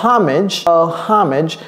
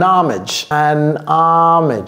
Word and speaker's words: homage: Vous pouvez dire a homage, ou bien vous pouvez dire an homage, Lorsque vous dites an, ne dites pas ha.